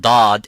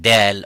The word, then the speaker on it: ض: would be no problem, as long as it sounds like dad and not dal or dha or za.